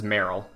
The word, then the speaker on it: Marill: So the pronunciation's Meryl.